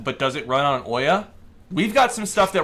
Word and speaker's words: Ouya: It's pronounced Ouya. That's Ouya.